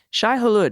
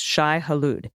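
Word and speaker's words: Shai-Hulud: try and it's closer than you might think Shai Hollywood is pronounced Shai haloud the maker is also perfectly acceptable bless the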